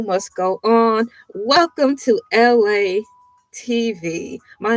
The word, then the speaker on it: ELAY: Welcome to LA TV. My name is LA, pronounced like LA, like the city.